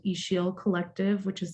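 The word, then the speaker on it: Ixil: a small social um slow fashion brand called ishiel collective which is spelled i-x-i-l i'm actually joining today from the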